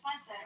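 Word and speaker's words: مصر: In Arabic we call it maser.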